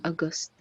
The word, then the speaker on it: August: argent in argentina in august august august yeah because the stress is on the first syllable or is stronger than this august good number three it's